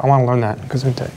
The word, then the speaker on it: Gesundheit: Gesundheit. It's fine. Generally mispronounced German, but yeah.